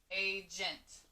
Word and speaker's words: agent: Okay, so yeah, we've got a soft G that we know, an NT. So again, if you try to sound it out with a short A, aga, that doesn't quite make sense.